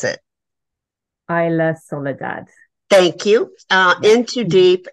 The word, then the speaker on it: Isla Soledad: So please, will you please pronounce it? Isla Soledad.